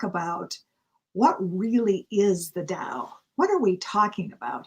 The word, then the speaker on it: Tao: say in america uh tau which it can be pronounced that way but it's really pronounced dao like the dow jones d-o-w but it's spelled t-a-o i know it's just